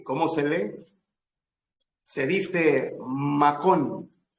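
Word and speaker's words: מקום: llegó a un cierto lugar quieren saber cómo se escribe eso en hebreo y cómo se lee se dice macón m a K o m macón macón o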